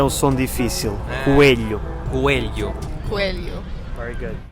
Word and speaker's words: Coelho: Coelho. Coelho. O LH é um som difícil. Coelho. Coelho. Coelho. Very good. Mais uma palavra em que, para variar, todos os Os se leem U.